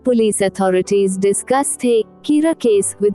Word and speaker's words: Kira: soon confront the killer, whom the general public has been calling Kira, the Japanese pronunciation of the English word killer.